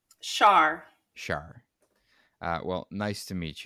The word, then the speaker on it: Char: Is it pronounced Char or Char? Char.